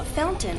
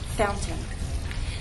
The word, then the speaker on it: fountain: that has two pronunciations the standard pronunciation is fountain with the true tea fountain the other pronunciation is what you'll hear in fact speech fountain this is more typical of everyday informal English fountain how am I making